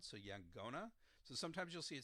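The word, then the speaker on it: yaqona: do this but um instead of a Q sound it's a G sound so ya gonna so sometimes you'll see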